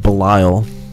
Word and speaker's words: Belial: Ooh, Book of Belial. Or Book of Belial, as chat members have informed me it's pronounced.